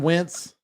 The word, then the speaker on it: Wentz: Crouton Wentz, and that's spelled Wince, like Vince with a W, is he might be done in this league.